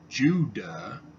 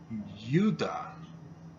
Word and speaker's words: Judah: it something else because it's not pronounced Judah it's pronounced you die there's an American Indian